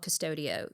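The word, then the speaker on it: Qustodio: I mean, it's not very capitalistic of me, but there's an app called Custodio. Qu U S T O Dio. It's green and it's spelled wonky.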